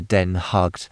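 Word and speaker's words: Den Haag: The Dutch have abbreviated the old name es Ravenage to den hugged and they pronounce the name of the capital just as we do the word hog.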